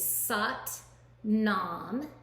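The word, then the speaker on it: Sat Nam: the mantra we're going to use today is saat nam and it's spelled s-a-t-n-a-m and it means truth is my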